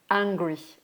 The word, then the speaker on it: angry: Alors que je suis en colère, I am angry, A-N.